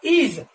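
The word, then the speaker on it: edge: इसके बाद हम देखेंगे अगला जो वर्ड है वो है ई डी जी ई, यहां पर भी डी साइलेंट है, इसका प्रोनाउंसिएशन होगा इज, यहां पर डी क्या है, साइलेंट है।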